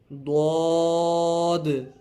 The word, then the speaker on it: ضاد: ضاد، طا.